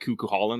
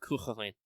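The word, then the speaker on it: Cú Chulainn: I remember when I didn't actually know how to pronounce Kukulane. I thought it was like Kukuhalan or something. Yeah, Chuchulin. No, it's Kukulane.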